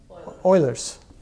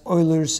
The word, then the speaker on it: Euler: and that is known as ERS how you pronounce it Oilers w okay can't pronounce that and that is known as Oilers equation so now I have a very interesting